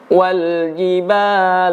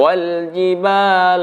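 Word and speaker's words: وَالْجِبَالَ: Hai ayat yang ketujuh Wal Jibal aau tada KYD huruf Jim tidak ada udara yang keluar bukan Wal Jibal tapi Wal Jibal aau tada kemudian di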